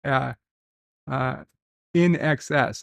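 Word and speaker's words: INXS: And Dan Ben thinks it's pronounced In Excess, NXS.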